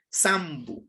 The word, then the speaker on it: sambu: y ha evolucionado y se lo escribe y se lo pronuncia como la S. Sambu.